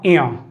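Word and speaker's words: ञ: इनका उच्चारण स्थान जो सही उच्चारण है क ख ग घ अंगा, च छ ज झ इया, तो इसे हम बोलते हैं इया। मैं लिख रहा हूं यहां पे इया। और ट ठ ड ढ अणा, इसे बोलते हैं हम अणा। तो इनमें भी काफी कंफ्यूजन रहता है, तो इनका उच्चारण स्थान अलग अलग है। इसे अंगा बोलते हैं, इसे इया और इसे अणा।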